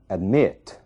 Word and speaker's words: admit: Observem o verbo admit. A sílaba tônica é o mit. A primeira sílaba, é uma sílaba mais fraca. Então, admit, é ali que está a sílaba tônica.